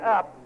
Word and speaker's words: Upp: And Bud Gale picking up the pitch from his catcher, Scott Up. By the way, it's spelled UPP, Scott Up.